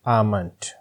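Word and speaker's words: almond: इसमें एल जो है वो साइलेंट होता है तो आप इसको पढ़ेंगे आमंड।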